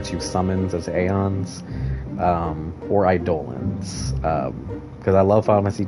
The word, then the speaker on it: Eidolon: didn't have voice acting, so I think I pronounced it Eidolon, which I didn't like how that sounded.